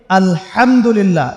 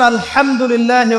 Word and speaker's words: আলহামদুলিল্লাহ: আলহামদুলিল্লাহ। এই হা এর মাখরাজ কোথায়? হা এর মাখরাজ কোথায় বলেন একজন? কণ্ঠনালীর মাঝখান থেকে। এখান থেকে আপনি উচ্চারণ করছেন আলহামদুলিল্লাহি রাব্বিল আলামিন।